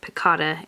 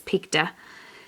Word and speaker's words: picta: I realized that earlier I was mispronouncing that I think I was saying piccata and I think it's picta anyway regardless she is